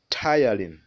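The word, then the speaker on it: ptyalin: saliva is called saliva amylase sometimes it's called tylene that word can be pronounced as tylene so we have the tongue the tongue rolls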